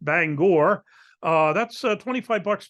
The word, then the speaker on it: Bangor: uh in Bangor Maine which we would say Banger here in Pennsylvania but I'm told it's pronounced Bangor uh that's uh 25